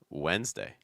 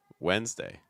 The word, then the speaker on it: Wednesday: we have Wednesday Wednesday so notice that it's not pronounced really like the spelling at all that first D is not really pronounced um you can just do W's like almost like you know the question word like W's W within the p